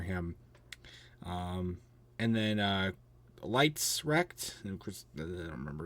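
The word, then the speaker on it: Letz: um and then uh lights wrecked and I don't remember his first name he wrecked weird weird way to pronounce the word Lights by the way l e TZ um um which then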